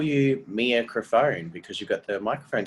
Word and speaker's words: Crafone: I'm like, no, because when you just see that written down, it looks like crapone. No one's going to read it as crafone.